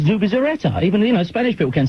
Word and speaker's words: Zubizarreta: It's not Zubizarreta, it's Zubizarreta.